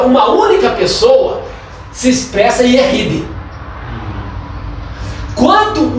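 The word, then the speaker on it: יחיד: Yeshid se pronuncia Yehid.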